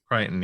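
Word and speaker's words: Crichton: most types maybe yeah uh how do you pronounce like the the dude's name John kryon uh uh John kryon yeah kryon yeah um so here's the thingi real Qui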